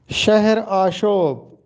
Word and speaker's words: شہر آشوب: اجڑنے کا منظوم بیان۔ یہ درست تلفظ شہر آشوب ہے۔ اس کو اضافت کے ساتھ شہر آشوب پڑھا جاتا ہے، جو کہ غلط ہے۔ شہر آشوب درست تلفظ ہے۔ الطاف حسین حالی کے